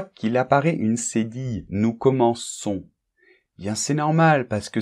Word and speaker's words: commençons: Bien, c'est normal, parce que sinon, on prononcerait nous commençons. Et ça n'irait pas, il serait irrégulier au niveau de la prononciation. Donc, la prononciation reste régulière, et pour cela, nous devons mettre une cédille.